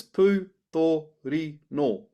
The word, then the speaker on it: pūtorino: So to pronounce it properly, if we break it down, I've got the word pūtorino. It's pūtorino. Pūtorino.